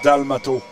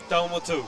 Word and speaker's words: Dalmato: And his name is pronounced Dalmato. Dalmato.